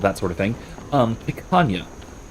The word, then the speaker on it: picanha: Um, picanha. Or picanha, depending on if you pronounce it phonetically, uh, English phonetically, or if you pronounce it how it's more or less supposed to be pronounced, at least I think.